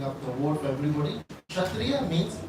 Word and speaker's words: Kshatriya: So anyway, so just for the breaking up the word for everybody, Kshatriya means, Kshatriya starts with a K, but K is silent.